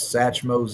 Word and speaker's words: Sachmoe's: So uh corre correct pronunciation is Satchmos Exotics and uh so that was a name